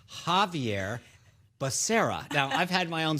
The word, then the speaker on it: Becerra: secretary of health and education i nominated javier baccaria you know javier bashir excuse me third time's the charm maybe it's javier becerra now i've had my own struggle so but